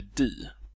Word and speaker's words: de: Vårt svenska språk att det vanligen uttalas di, men att under senare tider har formen dom i allt större utsträckning börjat användas också som subjekt, särskilt i Mellansveriges talspråk. Han skriver att ännu för några årtionden sedan hade uttalet di en stark övervikt i södra Sverige, men Svealands- och Norrlandsformen dom har hastigt utbrett sig över hela landet.